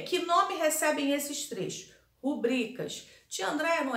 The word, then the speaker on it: rubrica: Rubrica. Mas não é rúbrica? Seria rúbrica se a palavra tivesse acento na letrinha, na sílaba ru, e não tem. Então, é rubrica, tá?